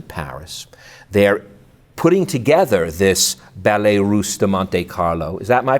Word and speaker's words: Ballet Russe de Monte Carlo: They're putting together this Ballet Russe de Monte Carlo. Is that my pronouncing it correctly? Yeah, that's right. Ballet Russe de Monte Carlo.